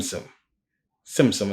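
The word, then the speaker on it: tzimtzum: cabala concept of ssum ssum it has a t but you pronounce it like tsunami ssum also much Hindu thought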